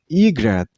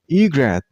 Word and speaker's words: egret: This name has two syllables, egret. And while you pronounce the word, you should stress on the first syllable, I mean on E sound, egret, egret.